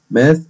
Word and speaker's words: math: Math, الرياضيات أو الحساب. وخلي بالي إن ال TH بتنطق ث, يعني أقولها بالث ما أقولهاش بالسين.